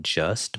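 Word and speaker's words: Juste: it's called like it it looks like just but it's actually pronounced ju like the the U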